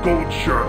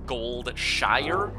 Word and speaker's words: Goldshire: has retconned this and I am fairly confident it is pronounced gold Shire now but I could be